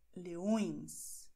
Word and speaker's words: leões: Noch ein Beispiel. Leão. Leões, beide nasal.